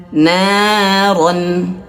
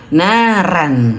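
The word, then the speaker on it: نَارًا: Nah, di sini tasla naron ron tasla naron roon tebalkan jangan naran ya jangan sampai bacanya tasla naran tidak ya begitu juga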